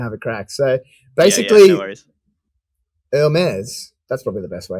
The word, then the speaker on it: Hermès: to say that but without the H the film is oh